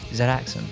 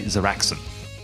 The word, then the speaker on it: Zadaxon: Zadaxon. If we're going to say it like Australians, like it's Zadaxon. Because it's a D. Zadaxon. It's A-D. Yeah, what did I say? You say Zaraxon every time.